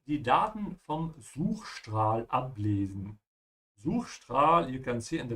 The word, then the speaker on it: Suchstrahl: And also here, just like before, when the S comes before a T or a P, it's a sh sound, yeah?